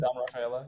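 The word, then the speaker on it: Ceddanne Rafaela: Rafaela.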